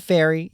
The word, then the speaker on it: Feary: I'm gonna say Pea The Feary, even though it's spelled Fury, but it's Pea The Feary.